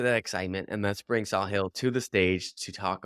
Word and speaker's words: Sahil: So as I mentioned before the call, if you don't know how to pronounce my name, the easiest way to remember is a saw and a hill. So it's Sahil.